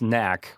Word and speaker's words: Knack: Like, how do you not know? You should say Knack.